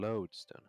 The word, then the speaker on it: lodestone: I mean, lodestone. How do you pronounce it? Oh, it's LOD, not LOAD.